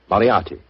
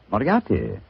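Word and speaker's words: Moriarty: it or mispronounce it, I'm afraid I'll have to begin calling it the way it looks. M O R I A R T Y. Mariati. Mariati.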